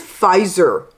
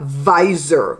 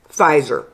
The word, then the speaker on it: Pfizer: And the thing is, Pfizer, listen to me, Belizeans, it's not visor with a V. There's no V in there. The PF, they make it sounds like a F. Pfizer, okay? The P is silent.